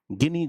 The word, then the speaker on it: Gini: Lorentz वक्र और गिनी गुणांक। यह गिनी है। याद रखेंगे जीनी नहीं है।